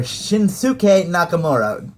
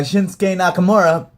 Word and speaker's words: Shinsuke Nakamura: Zayn versus the debuting shinsuke Nakamura or shinuk nak take take your pick of those pronunciations um either way uh this is a case when when you see this guy shinsuke Nakamura of really not wanting